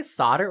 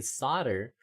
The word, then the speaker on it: solder: British may have started pronouncing the L under the influence of French or Latin where the Americans kept the 14th century pronunciation.